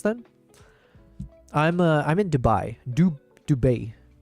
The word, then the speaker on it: Dubai: I'm uh I'm in Dubai. Dub Dubet. Some of the people here pronounce it dubet.